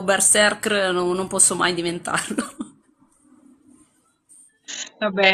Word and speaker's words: berserkr: parte che non si dice berserker, ma si dice berserkr. Berserk. Berserkir in plurale. Ok. Berserker è solamente perché le persone fanno fatica a mettere tre consonanti di fila.